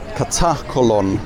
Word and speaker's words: Katakolon: And yeah, note the pronunciation. Katakolon, Harini.